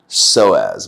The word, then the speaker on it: psoas: Psoas muscle. Iliopsoas, it's also called, and it's spelled with a P.